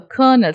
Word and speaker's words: colonel: south cold two days before colonel hunt uh kernel c-o-l low nel should not be pronounced as colonel it has to be pronounced